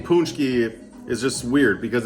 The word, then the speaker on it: paczki: The name paczki is just weird because it's spelled like this, but it sounds like paczki. Tell me how to spell a paczki. I'd be like P-O-O-N-C-H-K-I-E, not P-A-C-Z-K-I.